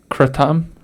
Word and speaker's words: kratom: kratom oh yeah yep or uh kratom as they call it kratom and that's how they say it in thailand but most americans call it kratom it's really big down